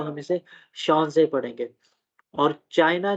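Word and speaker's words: Chance: एच एट the beginning of loan words is pronounced like English S एच, ठीक है, शाह की तरह, एज इन। अच्छा, अब ये शांस से, ठीक है, ये हमारे पास जो है वो फ्रेंच वर्ड है चांसेस के लिए।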